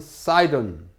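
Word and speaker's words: Sidon: 그 다음에 시돈, 영어로 하면 사이돈.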